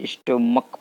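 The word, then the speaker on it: stomach: जैसे ध्यान दीजिए, जैसे स्टोमच लिखा है, इसको स्टोमच ने स्टोमक पढ़ते हैं, इसको क्या पढ़ते हैं, स्टोमक।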